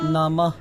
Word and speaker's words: নমো: গোবিন্দায় গোবিন্দায় নমো নমো নমঃ। এই দুইটি একটু উচ্চারণ ভিন্ন আছে, কারণ এটা হচ্ছে ম ওকার মো, তাহলে এটা উচ্চারণ হবে নমো।